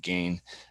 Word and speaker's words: Gane: right because you've got I believe it's pronounced gone but we can keep going with gain uh gain who's you